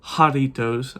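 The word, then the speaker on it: Jarritos: Doritos uh not Doritos I kept on calling it Doritos in the whole video series it was a kind of a joke but jaritos I know I know I know how to properly pronounce it it was a joke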